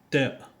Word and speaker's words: ت: Harf Ta, c'est la lettre qui correspond en français la lettre ta t.